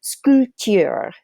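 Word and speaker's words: sculpter: little goofy in French they do not pronounce the letter P okay that letter P there in the middle of silent so it's scooty R which is kind of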